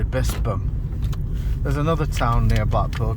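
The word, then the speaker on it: Bispham: was called Gin Square, just as I used to think that Bispam was called Bispam because it's got a ph and a lot of people call it Bispam, but it's actually Bispam.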